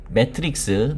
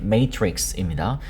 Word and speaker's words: matrix: 되고 비트코인 직역하자면이 매트 매트릭스 매트릭스의 발음은 메트릭스입니다.